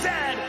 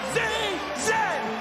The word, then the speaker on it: Z: And it is pronounced Z, not Z.